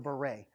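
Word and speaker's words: Barré: he's Welsh kind of it's not beret like the Hat that's spelled differently it's like mr. beret so gamma-ray syndrome is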